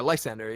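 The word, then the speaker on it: Lysandre: Oh yeah, Lysander.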